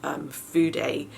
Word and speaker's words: fude: Well, a lot of people refer to Japanese brushes as fude. It's spelled F-U-D-E, and fude means a Japanese brushes, basically a brush.